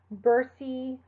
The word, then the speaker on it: bursae: When you see an AE or an OE, you usually only pronounce the second letter. So bursae or coelom.